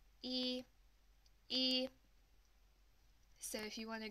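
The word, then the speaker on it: 一: line like so and to pronounce this one it's like the English alphabet letter e and you're going to use the first flat tone to say it and it sounds something like this e e so if you want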